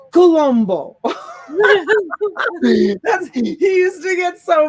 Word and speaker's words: Columbus: his name christopher columbus his name is not christopher columbus you pronounce it christopher columbo he used to get